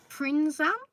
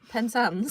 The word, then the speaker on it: Penzance: Because the longest train journey is from Aberdeen to Prinzan. That's how you pronounce it. Penzance.